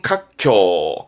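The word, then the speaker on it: 活況: 거는 생활의 활자 활황 발음은 카쿄 카쿄 뭔가 이제 상황이 아주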